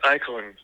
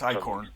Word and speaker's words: Eichhorn: But Liza Eklund, sorry. It's Eichhorn.